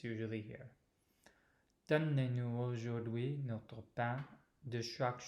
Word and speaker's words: donnez: So donnez-nous.